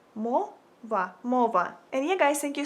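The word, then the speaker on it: мова: language in Ukrainian you would say it like Mo MOA and yeah guys thank you so much for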